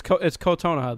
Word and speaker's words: Kotonoha: It's Kotonoha though.